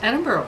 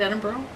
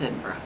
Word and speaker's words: Edinburgh: I say that right Edinburgh yes okay good some people who don't know how to say it say Edinburg oh yes so it's Edinburgh Ed yeah okay exactly